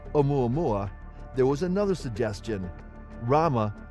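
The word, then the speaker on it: ʻOumuamua: Hawaii at Hilo, and it includes a Hawaiian okina, not an apostrophe, which is pronounced as a glottal stop. Before settling on the name Oumuamua, there was another suggestion.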